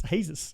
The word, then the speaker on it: Jesus: Now apparently I wasn't sure how to pronounce his name. So it's Jesus.